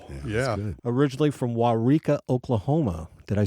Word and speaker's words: Waurika: A lot of syllables. Wow. Yeah. Originally from Waurika, Oklahoma.